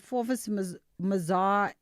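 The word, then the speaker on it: Forvis Mazars: Oh, we just don't pronounce the s.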